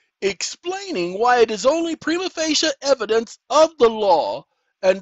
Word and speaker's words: prima facie: foreign ladies and gentlemen it's Prima facia and I I pronounce it prima facie prima facie case is